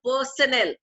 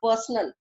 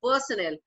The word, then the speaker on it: personnel: Now understand, this word is called personnel. It is not called personal.